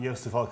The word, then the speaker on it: Joost de Valk: of yourself yoast um yoster volk i run a company called yoast so everyone knows how to pronounce my name we're a growing wordpress